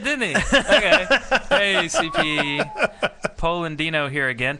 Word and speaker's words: Polandino: Polandino here again.